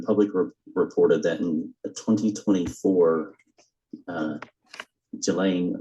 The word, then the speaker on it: Ghislaine: As best as we know, it's been publicly reported that in 2024, Ghislaine Maxwell, or Ghislaine, I think it's pronounced, arranged and wired $1